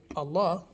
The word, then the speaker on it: Allah: vowel we're using elongate so when we say allah when we see it written phonetically we say a l so we put an emphasis on the lamb or the l then we're elongating the a right so um getting